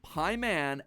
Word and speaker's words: Paimon: All three of them, Bael, Pie Man, and Ba lamb, are phonetic ways of pronouncing the names Bael, Paimon, and Balaam.